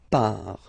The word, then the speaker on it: pars: So final S not pronounced. Je pars.